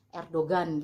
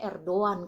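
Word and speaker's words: Erdoğan: kan kita bacanya biasanya Erdogan gitu sebenarnya Erdogan itu kita bacanya r doang kalau orang Turkinya ngomongnya r doang bukan Erdogan ya Jadi huruf g Itu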